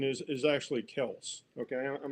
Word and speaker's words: Kelce: Uh yeah, the correct correct pronunciation is is actually Kelse.